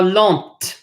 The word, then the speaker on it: lente: However, if a word ends in an E and the previous letter is a consonant, you now must pronounce that consonant. So this is not, if you add an E at the end, it's now grande. This is now petite. This is now lente. So no E, lent.